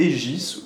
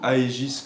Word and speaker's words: Aegis: présenter un PC MSI le Egis ou Aegis comme il s'écrit on a l'avantage d'être